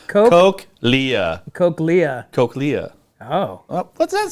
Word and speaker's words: cochlea: It's pronounced Cochlea.